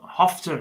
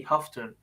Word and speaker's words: Houghton: three and he had hofton hofton I get told off for pronouncing his name wrong all the time because for years I was told his name was Andy Houghton Andy huffton uh Derbyshire Captain uh yeah